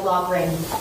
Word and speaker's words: Loughran: It is Loughran. I was just going on, I think someone told me that was how her name was pronounced. Kara Loughran, not Loughran. Yes, I mispronounced it.